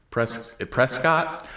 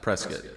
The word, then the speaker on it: Prescott: Prescott. I think they pronounce it Prescott. Prescat. Yeah. But it's Prescott, Arizona. Okay. Now that I'm saying it, Prescat sounds insane.